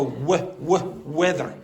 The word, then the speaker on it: weather: When the weather is bad, when the weather is bad, so weather. So it's a common German mistake to say v, something like that, or close to it.